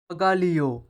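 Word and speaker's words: bagaglio: আয় এরো বিমান aeroplane বাগালিও luggage বাগালিও luggage বাগালিও বানানটা হবে ঠিক এইরকম জি এল আই ও এটা হবে লিও জি এল আই ও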